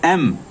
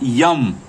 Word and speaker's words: M: We read M. But you know what? In my state, Uttar Pradesh, sometimes we read as yum. So yum is wrong pronunciation. It's M, E-M. M is the correct pronunciation.